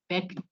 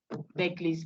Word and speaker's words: Berkeley: The one we have mentioned all this while is Berkeley, even though it's spelled Berkeley. It's pronounced back to the dog, back, yes.